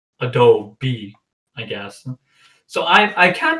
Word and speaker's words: Adobe: Adobe. Now that can but that's the American pronunciation.